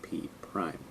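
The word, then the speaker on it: P′: So it looks like P apostrophe, but that's a prime symbol. We say P prime.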